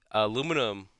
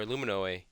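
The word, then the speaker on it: aluminium: it looks brand new aluminum or alumino uh I've heard pronounced be called both both ways uh can be sprayed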